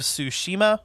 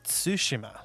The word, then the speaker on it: Tsushima: part two of our episode on ghost of tsushima or sorry ghost of tsushima that's that's how it's actually pronounced mom's making sushi mom's making sushi mom's